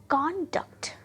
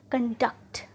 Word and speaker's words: conduct: Pronounce करते हैं, देखिए कॉन्डक्ट, कॉन्डक्ट, राइट। पर उसी वर्ड को हम जब वर्ब फॉर्म में रखते हैं तो कैसे प्रोनाउंस करें, कंडक्ट, कंडक्ट, पहला कॉन्डक्ट, दूसरा कंडक्ट।